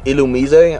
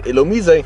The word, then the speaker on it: Illumise: this one of these is going to be illumise I believe that's how you are technically supposed to pronounce it next encounter is gonna be a